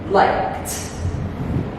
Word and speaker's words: liked: The letters ED make the sound T. T, T, T. You practice making the sound. Say the sound T. Then say the verb liked.